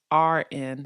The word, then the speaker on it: Lauren: And no, her personal account, even though her name is spelled Lauren, on her personal account, it's Laurn. So without the E, Tay.